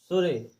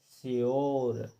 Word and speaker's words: sure: तो हमें नहीं, उसको सुरे नहीं पढ़ना है, हमें पढ़ना है यो लगा करके श्योर। और अंत में जो ई दिया है, तो हमें इस ई का उच्चारण बिल्कुल भी नहीं करना, ई को बिल्कुल भी पढ़ना ही नहीं है, बिल्कुल साइलेंट रहने देना है, केवल यो लगा करके,